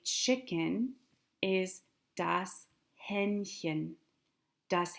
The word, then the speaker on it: Hähnchen: To say chicken is das Hähnchen. Das Hähnchen. Hähnchen. Hähnchen.